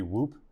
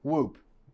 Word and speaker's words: Whoop: it's it should be whoop whoop yeah I guess it rhymes with a loop yeah I'll do my